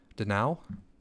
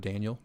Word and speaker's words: Danal: It's Danal instead of Daniel.